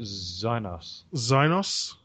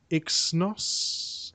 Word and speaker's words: Exynos: Exynos 8 Octa 8890 I pronounce it Zynos. Yeah. Even though it's a silent E. Oh yeah. Exynos. Something like that. Exynos.